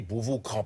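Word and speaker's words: Beauvau-Craon: Ça s'écrit Cran, mais on dit Beauvau-Cran, parce qu'il n'avait pas de meubles, il n'avait rien.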